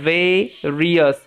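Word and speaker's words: various: Fruits from the ভেরিয়াস, এটার উচ্চারণটা হচ্ছে ভেরিয়াস, IOUS ইয়াস সাউন্ড দিচ্ছে, ওকে, ভেরিয়াস ট্রিজ।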